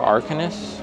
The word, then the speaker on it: Arcanus: I also found out that this is not pronounced Le Cirque Arcanus or Arcanus, it's Arcanu, I believe. I thought it was like Arcanus or something. No, it's Arcanu. So, if you guys are wondering, that's how you pronounce it.